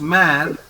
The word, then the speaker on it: mère: How to pronounce this word? It is mare.